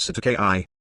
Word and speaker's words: cestui que: Doe Otto Jane one says to UK trust pronounced SATA ki common term in New Zealand and Australia to